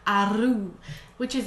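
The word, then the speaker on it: roux: And about the same amount of flour, and you're going to make what they call a ru, which is actually pronounced a rue if you live in North America.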